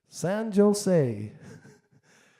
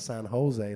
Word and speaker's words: San Jose: you about in California we don't pronounce the J we put a h there instead so it's called San Jose not San Jose so um the Irishman